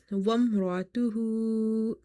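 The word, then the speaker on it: وَامْرَأَتُهُ: وامرأته، وامرأته.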